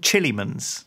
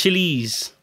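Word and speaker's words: Chillees: it's it's by a company called Chileans no it's chilies chilies not Chileans chili hard to find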